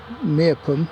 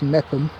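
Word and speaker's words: Meopham: We're on the edge of Meerpum, as you noticed. Or I think it's actually pronounced Mepham.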